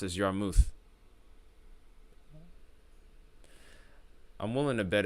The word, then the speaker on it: Yarmouth: Yarmouth. Yarmouth. Yeah. Yarmouth. Yep, I was right. It was Yarmouth. I knew I was pronouncing it wrong.